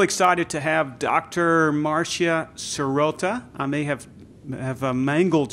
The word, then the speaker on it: Sirota: to have Dr Maria serota I may have have mangled your pronunciation of your last name how did I do it's pretty close it's Marcia soda soda soda fantastic and uh so